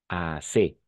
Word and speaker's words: assez: Le Z à la fin est muet. Assez.